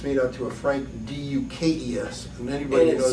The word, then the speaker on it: Dux: It's made out to a Frank D-U-K-E-S. And anybody and knows. it's spelled D-U-X, correct? Dukes, right.